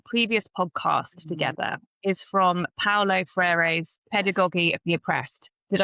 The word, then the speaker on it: Paulo Freire: So a quote that I really love and that Kaia and I named on our previous podcast together is from Paulo Freire's Pedagogy of the Oppressed.